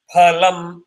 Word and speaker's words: phalam: It is PH. It is not fa. Most people will say fool.